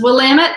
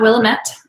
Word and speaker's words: Willamette: areas in blamet valley so it's willamette not willamette um if you're out there they'll tell you it's willamette damn it um to